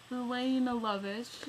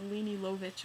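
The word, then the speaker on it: Lene Lovich: This is, Lena Lovitch. I love how she puts the little, pronunciations on here. Because she's probably sick of being called Leni Lovitch or something.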